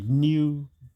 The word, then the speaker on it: Niu: And of course, I was promoting myself way back in 2010 as a new billionaire, spelled Niu, in reference to where I was born, Niue Island in the Pacific.